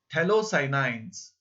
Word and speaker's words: phthalocyanine: P is silent here. So, doped phthalocyanines is the second example.